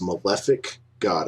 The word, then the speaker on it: Malefic God: How do you say your gamer tag? So I'm going to change it soon to to kind of make everything uniform, but it is pronounced Malefic God.